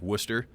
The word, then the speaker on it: Worcester: cities around there like Worcester. We pronounce it Worcester, but when you look at the sign, it looks like it says Worcester.